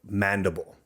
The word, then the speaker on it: Mendibles: You pronounce mandible, you don't pronounce it mandibles. However, when I first saw that word and when I was reading in school, Yeah. I read it as mandibles. Okay. Mandible. Gotcha. Right, because that's how I pronounce my last name correctly.